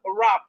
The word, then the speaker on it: wrap: We have wrap. We have wrinkle. Wrinkle. Wrinkle. So we can see simple rule here that whenever you see W and R at the beginning of word, the W is silent.